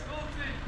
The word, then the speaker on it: Ulcinj: Ulcinj, Montenegro. Ulcin, Montenegro. Yes, Ulcinj.